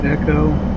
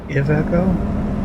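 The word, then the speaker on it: Iveco: So, this truck is the Aeco, which I used to pronounce, but apparently I was told last week that it's uh supposed to be ICO and it's Italian.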